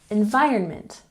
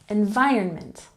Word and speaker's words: environment: next we have environment emphasize the second syllable environment environment and next we have